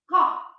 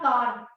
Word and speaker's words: car: The last r is not audible. Ka. It's not car. It's ka.